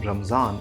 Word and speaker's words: Ramzan: D in other words the word they encountered was probably ramazan they then borrowed this word as ramazan which eventually became ramzan in Hindi and Udu and then later the